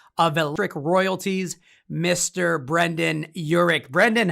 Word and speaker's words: Yurik: is the ceo of electric royalties mr brendan urich brendan how are you i'm doing great thanks